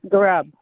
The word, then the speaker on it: Garab: That gets me down to give me the correct pronunciation, Gupra? Garab? Yes, Garab. Garab.